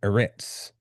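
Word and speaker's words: ארץ: instance, earth would be Eretz. And it is spelled boom. That's a Aleph, a Resh, and I think this letter is called a Zadi.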